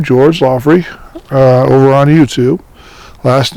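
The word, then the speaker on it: Loghry: these videos are going, under my name, George Loffrey, over on YouTube. Last name is spelled L-O-G-H-R-Y.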